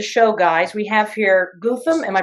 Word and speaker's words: Goutham: We have here Goutham. Am I pronouncing that correctly? Almost. It's Goutham. Goutham, but you can think of it like Gotham City.